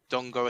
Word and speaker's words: Dango: I believe it's Dongo Watara, but it's spelled Atara. But the first name, if you look at it, it looks like Dango.